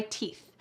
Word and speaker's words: teeth: I put my hair up and brush my teeth. Don't forget that final th. Your tongue needs to be between your teeth to say the word teeth.